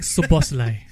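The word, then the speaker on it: Szoboszlai: were many players um Liverpool one I cannot pronounce that the Shai whatever it's Dominic subai okay Dominic shos yeah anyway I believe he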